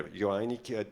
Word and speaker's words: Joainig: The fifth on the panel, it's Mark Joainig. Do I pronounce it correctly? Yeah, Joainig, Director, Corporate Affairs and Sustainability, Coca-Cola HBC.